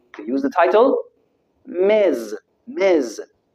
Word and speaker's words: Ms.: Ms. Note the pronunciation, Z.